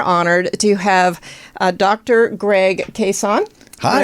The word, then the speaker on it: Cason: Greg Cason. Hi. Pronouncing that right? Yeah. Greg Cason.